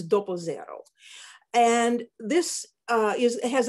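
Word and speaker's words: doppio zero: like our unbleached all-purpose flour in italian it's doppo zero and this uh is has about 13 protein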